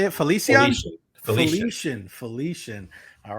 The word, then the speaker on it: Felician: Felician.